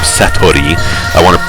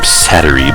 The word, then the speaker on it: Satori: stage, pseudo-psychic girl named Satori, my Gaijin accent wants to pronounce her name Satori, but I know people would kill me if I tried to say it that way.